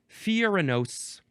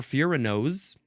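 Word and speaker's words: furanose: Next we have furanos, or furanos. That's fine too. It is F-U-R-A-N-O-S-E, like the nose on your face, which, when you think about it, noses just look really funny.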